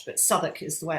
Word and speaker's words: Southwark: actually had different laws and rules with southwark south walk it's spelt but southwark is the way it's pronounced and um there